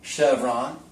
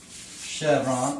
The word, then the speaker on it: Chevron: Comes from a region, a French region, and it's pronounced champagne. What about chalet? And, of course, there's the gas station, Chevron. Chevron, of course, is French.